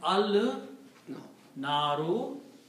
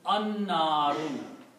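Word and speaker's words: النار: so it will become al naru, but when you pronounce the noon here, noon will kill the sound of lam and it will become an-naru, the fire.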